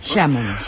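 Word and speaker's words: Chamo-me: Xámome. Despois temos o de xámome. O en Portugal, cando é átono, cando non ten forza, sempre se pronuncia como u.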